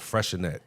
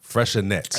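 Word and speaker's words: Freixenet: It's spelled with an X in there somewhere. Freshenex? Freshenet. I know what you're talking It's a about. T at the end. Yeah. Yeah. But it's a So silent X in it there tastes somewhere.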